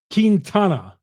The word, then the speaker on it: Quintana: of factors in those two things Chuck it's pronounced kintana well said Chuck Freeman here on lock on